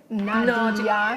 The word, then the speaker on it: Nadja: Nadja, not Nadja. Nadia. Nadia. Yes, even though you spell it with a J, but it's Nadia.